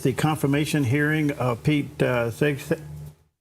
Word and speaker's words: Hegseth: It is the confirmation hearing of Pete Hegseth.